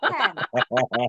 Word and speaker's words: tan: Tan itu dibaca ten. Bacanya spellingnya gimana tadi spellingnya? T-A-N. Bacanya ten.